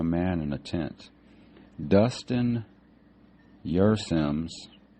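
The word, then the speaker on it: Kjersem: in a tent Dustin your Sims it's uh I guess the K is silent it's k j e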